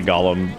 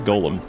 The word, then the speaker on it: Golem: I say Gollum as like that's how I pronounce that. That's just how I've always said it. I've been corrected many times. Like, oh no, it's Golem.